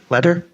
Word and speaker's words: Kletter: I, Ron Hanegraaff, move to approve the hire of Lillian Kletter. Is that how you pronounce it? Yep. Kletter?